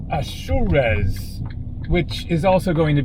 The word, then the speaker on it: Azores: And so for anyone who thinks that I am mispronouncing the Azors, you are correct. I am. It is not the Azors. It is not the Azors.